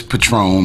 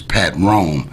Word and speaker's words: Patron: before the liquor and if you break it into two syllables patron the liquor is pat ron mines is pat rome which one's closest to